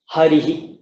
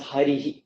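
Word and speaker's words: हरिः: Then it'll be pronounced harihi, like that. That E shape remains, but you release the breath through that E shape, so it becomes harihi, like that.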